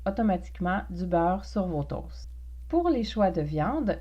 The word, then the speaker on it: toast: Prononcé toast, on ne prononce pas le T final, donc toast, des toasts.